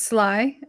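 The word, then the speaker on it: Sligh: old deck name it's it's spelled s-l-i-g-h which i feel like could be pronounced about a billion different ways fly yeah is it it's sly okay yeah it's definitely slot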